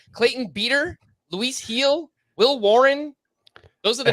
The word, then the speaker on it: Gil: I miss that okay heel is G you pronounce it heel apparently okay I did see I said the name in my head Gil and so okay yeah